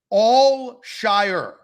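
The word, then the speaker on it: Al-Shaair: we good there's yeah there's less emphasis on the ear at the end it's and Devin everybody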